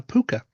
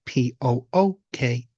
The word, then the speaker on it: púca: And one very famous one is a creature known as a puka. So that is spelt P-U-C-A or Pooka if you want to Google or look it up.